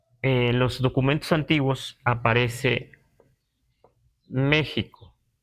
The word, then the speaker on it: México: los documentos antiguos aparece México y así lo pronunciamos todavía es Parece ser que en algún momento esta x se prod usaba como J en algún tiempo en